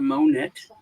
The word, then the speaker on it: Monet: Well, I think you're saying it wrong. It's a Monet. For that one.